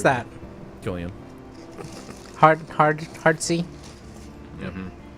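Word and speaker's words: Cillian: coming back San Killian how do you actually pronounce that Killian hard hard hard SE mhm I learned that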